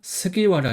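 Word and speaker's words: 菅原: 그래서 히로키 9번은 스기와라 유키나리입니다. 그래서 한자는 골프간 근원이 합차지 한자예요. 그래서 스가 그다음에 근원은 와라고 읽어요.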